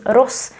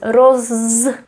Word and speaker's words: roz: keep in mind that sometimes it is pronounced as Ros sometimes as Rose if the following consonant is voiced like here or here